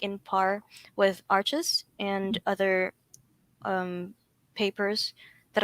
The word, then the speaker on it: Arches: taught me about that it's a french brand so you have to pronounce it um that way so or i believe most people know it as arches um so yeah i